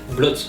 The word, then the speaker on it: Blot: Blot. Blot. Il y a un T à la fin? Oui, mais il y a des Dans mots. le doute. On le prononce pas, c'est vrai.